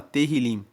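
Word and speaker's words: Tehillim: texto original, o livro de Salmos se chama Terilim. Se escreve T e H.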